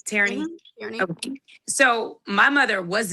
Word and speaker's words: Tareney: Am I saying it right, Tareney? Tareney.